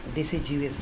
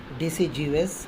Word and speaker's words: deciduous: Now we are going to start about tropical deciduous forest. One thing remember always, the pronunciation of this word deciduous, not deciduous.